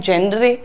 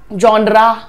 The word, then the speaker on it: genre: कुछ लोग कहते हैं यॉनर, यॉनर तो बिल्कुल भी नहीं है, जॉनर भी नहीं है, जेनरे भी नहीं है। प्रोनाउंसिएशन देखिए आप यहाँ पर, the pronunciation is जॉनर, जॉनर, र पे रुक रहे, जॉनरा नहीं है ये, दिस इज जॉनर, जॉनर,